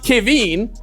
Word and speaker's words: Kevin: Well, my name is technically pronounced Kavine.